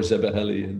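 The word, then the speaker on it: Szebehely: Let me be polite, because I think a Hungarian later told me Zebeheli was the right word to pronounce.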